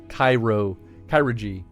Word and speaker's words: chirurgy: No, it's chirurgy. Chirurgy, oh. So chiropractic. It's chiropractor chiropractic plus chirurgy.